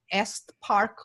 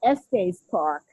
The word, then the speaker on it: Estes Park: location, the Stanley Hotel in Est Park, Colorado. I Hopefully I'm pronouncing it okay. It's Well, beautiful location. You were close. It's the Stanley Hotel at Estes Park, Thank you.